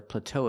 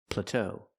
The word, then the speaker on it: plateau: I cannot say the plateau effect. plateau The word is pronounced plateau. We have to use a short a sound like black cat.